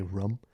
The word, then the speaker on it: room: I get ranked on for the way I say rum, because I say it like rum, like drinking rum, instead of a room. Room. Come to my room. It's a very new Room. I would say it like that. room. It's a very New England thing.